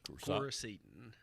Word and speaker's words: Coricidin: Coricidin.